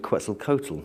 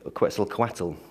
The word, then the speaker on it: Quetzalcoatl: to look at the legend quetzel Kotal or Quetzalcoatl she sometimes pronounced which in the Mayan